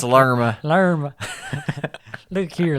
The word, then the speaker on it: Lerma: I do speak Colombian, and that's Lerma. Lerma. Look here, Lerma, listen.